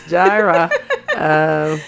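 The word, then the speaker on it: Jireh: It's pronounced Gyra. It's Gyra.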